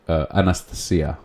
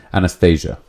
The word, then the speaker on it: Anastasia: And this was a book called Anastasia, which I've heard is the correct pronunciation. Not exactly, but the accent. Anastasia.